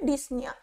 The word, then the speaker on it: ডিসনিয়া: এখানে বাংলাতে ডিপনিয়া দিয়েছে এটার উচ্চারণটা কিন্তু হবে ডিসনিয়া।